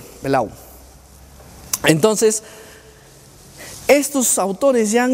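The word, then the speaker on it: Behlau: Belao se escribe B-E-H-A-U-L, Belao.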